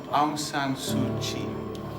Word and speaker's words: Aung San Suu Kyi: Aung San Suu Kyi.